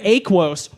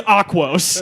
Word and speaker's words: Aquos: He's just like, that's the Aquos. Mispronounce it. It's Aquos.